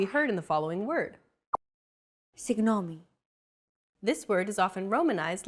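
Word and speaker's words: συγγνώμη: romanized like this signomi this character isn't pronounced using an English G sound at all who it's like a very soft continuous and loosely held G almost as if you're gargling but don't make it sound too throaty who there's no such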